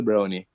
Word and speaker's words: Browne: So we are the Browne family, pronounced like the chocolate dessert, brownie.